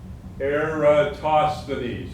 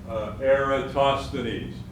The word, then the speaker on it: Eratosthenes: have heard of eratosthenes so most greek names you pronounce all the letters air toss the knees i suggest you say that several times eratosthenes even if you don't